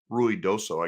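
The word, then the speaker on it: Ruidoso: met in RI DOA Ru doso I guess is the real way you pronounce it we met ruy doso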